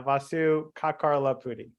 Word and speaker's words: Vasu Kakarlapudi: Why don't you say it so our listeners get the real, pronunciation? Yeah, Vasu Kakarlapudi.